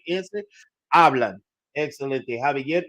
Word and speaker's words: hablan: Hablan. Excelente. Javier y Joaquín hablan por teléfono. Remember that all H's are silent in the Spanish language. We just pronounce the vowel that follows it.